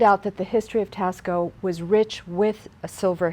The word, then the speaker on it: Taxco: it's about a two and a half hours Tasco which is spelled ta ex-ceo and found out that the history of tasko was rich with a silver heritage the border